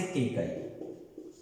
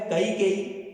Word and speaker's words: कैकेयी: तो वहां हमने सुना इसे केकई। अब देखिए जो शुद्ध नाम है वो है कैकेयी और सुना हमने केकई।